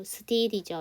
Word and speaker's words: still: 여러분, but 다음에 유저, but you still이죠. S 사운드 뒤에 T, 쌍잠, still 해주시면 돼요.